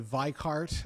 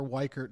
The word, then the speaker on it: Weichert: Well, the pronunciation of my last name is very hard because the Germans love to say Weichart and the Americans like to say Weichert. We go with the American version because America, so we're Weichert.